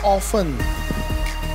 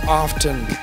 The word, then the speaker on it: often: Question number 4: how often or often? Both pronunciation are fine.